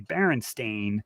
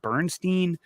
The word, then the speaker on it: Berenstain: jumped out of me Baron stain not Bernstein so that comes up